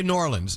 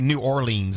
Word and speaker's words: New Orleans: New Orleans well it's i' say nor Orleans it's n o r l n i I was always taught to say nor Orleans that's how you say it no I agree there